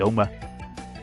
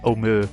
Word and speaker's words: Omer: I thought that said Omar then, like Pikmin. It was Omer. Omer. I don't even know how to pronounce it. O-M-E-R. Omer. I don't know. It's like Homer, but no H.